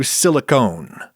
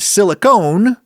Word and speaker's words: silicone: Now we come to silicone, with a silent E at the end of it.